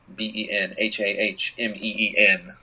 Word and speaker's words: Benhameen: It's at Benhameen, BenHahmeen. That's it's Spanish for Benjamin. Only it's phonetically spelled.